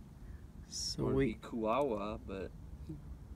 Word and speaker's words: Kuaua: So it would be Kuaua, but Kuaua. Kuaua.